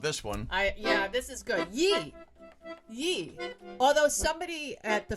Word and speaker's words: Ye: other night on Fox, they were saying yay. I felt really bad for her. Oh. Yeah, and I mean, how difficult is it to phonetically write that in the prompter? Nobody corrected her. Yee. She kept saying yay.